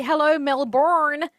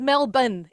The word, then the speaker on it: Melbourne: of international acts come over and they're like hello Melbourne and it's Mel bun it's Mel bu so you're doing it perfectly